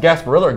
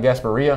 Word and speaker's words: Gasparilla: got the Gasparilla bowl as it pronounced Gasparilla area Gasparilla not gasps Maria Gasparilla Bowl between temple